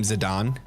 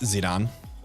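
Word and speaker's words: Zidane: to pronounce his name zidon like the like the soccer player cuz the whole like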